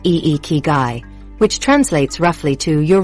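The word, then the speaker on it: ikigai: Ikagai pronounced eekai which translates roughly to your reason for being.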